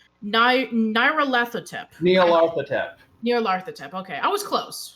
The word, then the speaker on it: Nyarlathotep: would be, and I'm sorry, I'm going to mispronounce this. I'm sorry. Nair Latothep Nyarlathotep. Nyarlathotep.